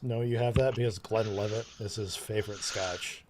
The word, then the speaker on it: Glenlivet: love Glenlivet, yeah. Yeah. But It's not pronounced Glenvillette. Glenlivet, whatever. So if you look at it, this is going to be hard to see.